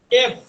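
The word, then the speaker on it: F: এর উচ্চারণ হচ্ছে উপরের, খেয়াল করেন, এফ। উপরের ঠোঁট নিচের দাঁত, এফ। অর্থাৎ এফ যখন উচ্চারণ করবেন, দুইটা ঠোঁট কোনোভাবে একসাথে লাগানো যাবে না।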